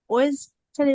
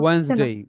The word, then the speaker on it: Wednesday: Saturday, Sunday, Monday, টুয়েসডে, ওয়েডনেসডে, উচ্চারণটা হচ্ছে না, ওয়েন্সডে, ওয়েন্সডে।